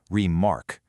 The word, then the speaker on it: remark: And then with remark, the beat flips completely. We start weak and just land super hard on the second syllable, remark.